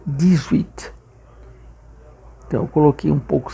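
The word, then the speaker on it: dix: Diz o 10 sozinho em francês, quando junta com uma palavra com som de vogal, já que esse with, o h não tem som, então fica dis.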